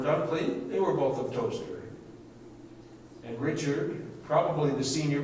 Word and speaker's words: Towcester: married John Manley of, I assume this is Toaster. I always call it Towchester because it's easy, reminds me how to spell it.